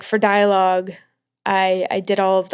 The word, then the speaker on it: Dialogue: Um your label it's pronounced Dialogue. Dialogue, yeah.